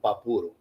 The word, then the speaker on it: Papuro: His name was Arturo Perez, and we call him Papuro when we were a kid.